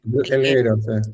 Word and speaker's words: El Higuero: Eh no, también de la Asociación Latinoamericana de Poetas y otro premio de la editorial, El Higuero, se pronuncia Eliguero, Eliguero.